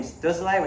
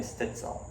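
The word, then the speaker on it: Stützle: Well, when he comes to America, everyone's gonna his name is going to change from Tim Stutzle, which is how you're supposed to pronounce it, to Tim Stutzel.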